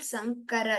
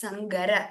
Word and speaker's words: शङ्कर: शङ्करप्रवृत्ता शङ्करप्रवृत्ता It's not Sankara, it's Sangara.